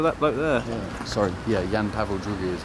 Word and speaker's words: Jan Paweł II: Sorry, yeah, Jan Paweł II is how you say. Yam. Jan Paweł II. II is two.